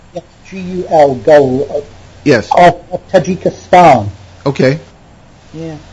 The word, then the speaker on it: gul: Now, we understand, Richard, that you journeyed to Central Asia last year to look for the gull. Am I pronouncing it correctly? Yes, G-U-L, gull.